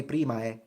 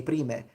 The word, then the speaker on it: primae: But notice that I don't say primae, I say prime, because I'm speaking about something medieval, and so I'm using a medieval pronunciation, which is closer to ecclesiastical pronunciation.